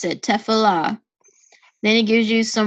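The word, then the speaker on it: תפילה: If you click this megaphone, so it tells you how to pronounce it, Tefillah.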